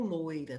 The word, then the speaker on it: loira: ou loira tá então essa palavra ela tem duas pronúncias As duas estão corretas não vamos nos preocupar com o loura ou com o loira tá assim como toucinho ou Toicinho Então são palavras que T duas pronúncias dentro da nossa língua ambas aceitáveis ambas dentro da Norma culta então quando eu falo